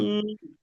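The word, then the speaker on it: ج: আচ্ছা, এক কাজ করেন, জিম। এক কাজ করেন, জিম। প্রথমে আপনি জিভের মাঝখানটা উপরে তালুতে লাগিয়ে রাখেন। জিভের মাঝখানটা আপনারা উপরে তালুতে লাগিয়ে রাখেন, এরকম জিম।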